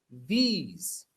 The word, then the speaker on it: these: These, se pronuncia así. These. Se pronuncia como please. Por favor, please. These. Se pronuncia igual.